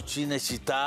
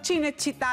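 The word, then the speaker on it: Cinecittà: chine chit Dinamarca no chine chit es son los grandes estudios de cine en Roma it pero es que el problema no fui yo el problema Fuiste tú porque eso se pronuncia ch que la ciudad del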